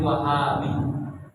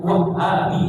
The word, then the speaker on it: Wahhabi: Orang Indonesia ini kan gak suka yang berat-berat jadi Wahabi. Aslinya Wahhabi itu bacanya.